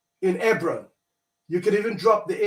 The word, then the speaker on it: Hebron: So I would say Hebron, E-B-R-O-N. It's the same Hebron. The H is silent in the case.